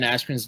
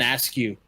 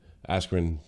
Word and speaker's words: Askren: Speaking of announcers, do you know they got Ben Askren's name wrong when announcing him? What do they call him? Ben Askren? Ben Askew.